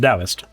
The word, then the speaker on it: Taoist: Yeah, it's pronounced dowist.